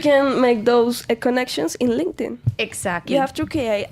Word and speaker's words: LinkedIn: does a favor please please the pronunciation is not Linkin what is link it's LinkedIn thank you very much because many people say link it link it no no guys linting okay linting uh I know